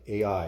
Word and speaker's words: Ai: beginning between bethel and a ai or i so i just i pronounce it i to the place where